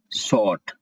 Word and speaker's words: short: फिर next word है शॉर्ट fall, SHORT शॉर्ट। यहाँ पे R साइलेंट होता है, R नहीं पढ़ते तो पढ़ते हैं शॉर्ट, SHORT शॉर्ट, और FALL फॉल।